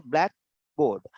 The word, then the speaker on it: blackboard: Any board which is black is a blackboard. Blackboard. And blackboard is without gap. Blackboard. Blackboard. There's small pause in between the two words.